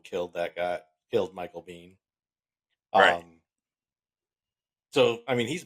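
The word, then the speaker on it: Biehn: was there and Michael bean I think his name is Bean that's how you pronounce it he was actually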